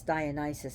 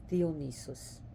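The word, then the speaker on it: Διόνυσος: debauchery and lunacy that's Dionysus how we pronounce it by theonesis theonesis okay the D is actually like a short th like th I should say DH so imagine pronouncing dog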